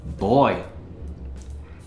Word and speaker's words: buoy: When I was a kid, we used to call them buoys back east, but they're pronounced boy.